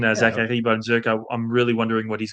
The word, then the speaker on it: Zachary Bolduc: I'm going to give the proper French Canadian pronunciation. Zachary Bonzuc.